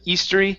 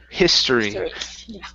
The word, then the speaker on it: history: of Natural History okay get that H right there instead of eory history there we go the